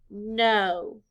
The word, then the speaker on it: know: k n o w the letters k n stand for the sound the letters o w stand for the long o sound o blend with me